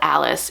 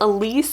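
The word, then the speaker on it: Alyce: I thought it was Elise, and I was like, yay! But I come to find out that it rhymes with malice, and you don't pronounce this Malice, although we should.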